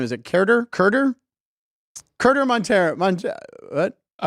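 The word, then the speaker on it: Keider: Is it Kerder? Montero. What? Kiter Montero. It is. Kyder kinda, Montero.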